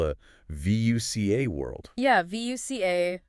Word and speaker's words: VUCA: Yeah, VUCA, it's pronounced VUCA, and it stands for